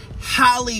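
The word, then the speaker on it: Halle: of that next up she goes to miss Haley excuse me holly Bailey because she pronounces Hal's name first and then calls her Haley the they were in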